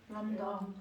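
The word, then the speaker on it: λ: 람다 상당히 거시기하네. 자, 그러 뭐라고 읽는다고? 람다 어 람다 람다 람다 람다라고 읽는다고 자 다시 여러분 이런 걸 판단할 때 제일 중요한게 바로 뭐라고?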